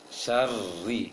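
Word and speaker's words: شر: Syarri, seperti baca ri dalam penglafazan lafaz huruf Latin, huruf Indonesia.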